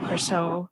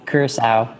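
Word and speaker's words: Curaçao: I know that some people say Curacao or Curacao. How would you pronounce that? That's right. Yeah, Curacao.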